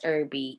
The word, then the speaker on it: Erby: w n and then my last name is irby e r b is in boy y e